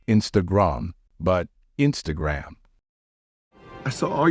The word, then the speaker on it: Instagram: by saying Instagram on remember the stress in this word should fall on the first syllable so the correct pronunciation will be Instagram not Instagram but Instagram I saw